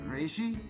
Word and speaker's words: Rezi: the important thing is i believe you pronounce the first name reishi so you could also